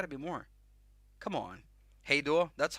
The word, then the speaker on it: Hej då: Hej då. That's how you say it in Swedish. Hej då.